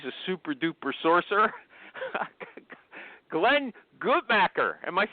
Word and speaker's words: Gutmacher: Glenn Gutmacher, am I saying your name right, Glenn? Anything but nutcrackers is just fine. Okay, how do you say it? I go with the more German Gutmacher. Yeah, Gutmacher.